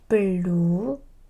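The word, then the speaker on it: 블루베리: Blueberry blueberry blue. So when I have two L like so one as a pim and right next one up here they create a long L sound R blueberry wonderful grapefruit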